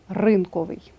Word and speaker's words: ринковий: і кулінарія дев'яте правило прикметники здебільшого мають наголос на останньому складі наприклад новий текстовий малий чудний цупкий крім слів запам'ятайте їх порядковий та ринковий 10те правило завжди наголошеним